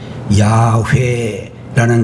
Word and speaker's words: 야훼: 여러분들, 여호와 영어 단어에는 제호바 이런 이름으로 나타나고 있는 이 이름은 히브리어 원어로 이야기를 한다면 발음이 조금 다른데 야훼라는 그런 발음으로 발음할 수가 있습니다.